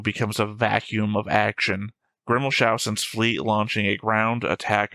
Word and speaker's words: Grimmelshausen: You're missing the S in his name. Grimmelhausen? No, you're not pronouncing the S. Grimmelshausen.